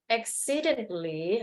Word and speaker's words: accidentally: Okay, when you pronounce this word accidentally. Okay, so the T is silent, or the A silent. Okay, instead of accidentally. Okay, we just say accidentally.